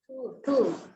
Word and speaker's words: two: இப்ப பாருங்க இது என்னங்க அடுத்த டூ டிபயூ சைலென்ட் டபள்யூ சைலென்ட் நீங்க டூ மாதிரி தான் படிக்கணும் இதை அடுத்தது டி ஓ எந்த